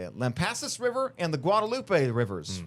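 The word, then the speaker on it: Lampasas: Um, and the Lampass, that's how you say it, Lampassis River and the Guadalupe rivers rose over 30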